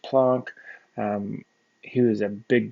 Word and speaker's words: Planck: this uh german physicist named planck spelled planck pronounced plonk um he was a